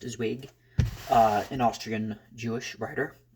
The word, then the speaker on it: Zweig: yesterday by Stefan Z I think it's pronounced zwig uh an Austrian Jewish